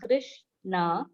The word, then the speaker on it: Krishna: called the maha mantra pronounced krish na and rama rhymes with